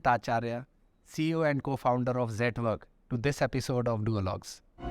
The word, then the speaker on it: Zetwerk: So Zetwerk actually is a Dutch word. Yeah. and it also rhymes with network.